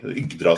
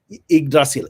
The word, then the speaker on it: Yggdrasil: Just more emphasis on the Y. Yggdrasil. Could you pronounce it? How would you pronounce it? Yggdrasil. Yggdrasil.